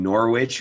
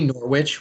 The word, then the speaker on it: Norwich: well, no, because like the American pronunciation is Norwich, but if it was at the time, it could have been Norwich, because good old British English doesn't say all the letters sometimes.